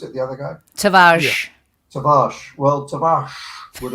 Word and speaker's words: Tavares: And is it Tavares you pronounced it, the other guy? Tavares.